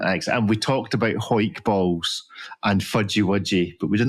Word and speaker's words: Hawick: Hawick, brother of John Wick. Yes, well, it's Hoik, which is famous for rugby, which is a sport for men.